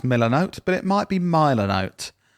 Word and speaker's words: Milanote: my next one yeah is I think it's pronounced milanote but it might be milanote m i l